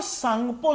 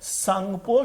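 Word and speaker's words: Tsangpo: इसे hinge line के नाम से भी जानते हैं, Indo सांगपो suture zone, clear हुआ? टी से, सांगपो टी से प्रोनाउंसिएट, टी को एस से प्रोनाउंसिएट करते हैं यहां पर।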